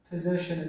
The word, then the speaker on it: possession: ይሄ possession ያሳይልናል። How do you pronounce this word?